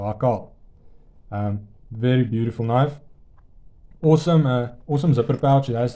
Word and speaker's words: Hakarl: found the Pickled steel alcohol and yes that is how you say it Afrikaans guys you'll have an easy time remembering it it's just the same as Circle so alcohol um very beautiful knife